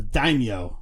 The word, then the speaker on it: daimyo: So that was pronounced the daimyo. Daimyo. Oh, that is okay. Take a drink first off. And I've been mispronouncing that since 10th grade. Then daimyo. Daimyo. So like 10 cents. Yo.